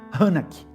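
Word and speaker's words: חנך: ensinar no hebraico é a palavra hanak, terminando com K, hanak, só que tem um tio no A, então eu creio que se pronuncia hanak, que também significa dedicar ou inaugurar.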